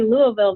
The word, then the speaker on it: Louisville: you're at in Kentucky you're going to say Louisville very different the system is trained to know